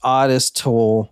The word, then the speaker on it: Ottis Toole: when we're recording yeah I am it is pronounced odest toll from what the book that I read Plus